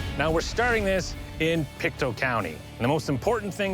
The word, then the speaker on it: Pictou: now we're starting this in pikto County the most important thing to know about pikto county is it's not pronounced Pik two that youu at the end has nothing to